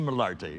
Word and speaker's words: Malartre: And he happens to be the scientific curator here at the Malartre, Musée Malartre. I'll say it correctly, right? Absolutely.